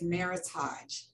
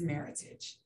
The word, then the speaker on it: Meritage: is commonly mispronounced as meritage the genesis of our name is the combination of merit and heritage which is meritage and our core purpose